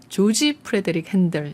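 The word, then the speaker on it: George Frideric Handel: 영국인들 은 그 의 이름 을 조지 프리데릭 헨델 이라 고 발음 합니다 .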